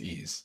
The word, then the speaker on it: Ys: It's pronounced ease.